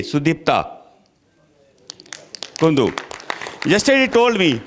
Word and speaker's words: Sudipta: Sudipta Kundu.